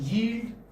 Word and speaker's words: yield: this this is yield many must pronounce it they they say eel i told you earlier also they would say eat this is not healed this is yield okay okay this is